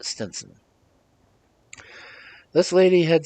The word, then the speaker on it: Stevenson: in the house of Widow Stevenson, generally pronounced Stenson.